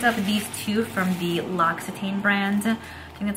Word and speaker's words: L'Occitane: and i picked up these two from the l'occitane brand and that's how you pronounce it so i love this for shaving